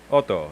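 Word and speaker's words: אוטו: is there okay um Oto Oto like like it's a lone word with a stress from the first syllable okay um all right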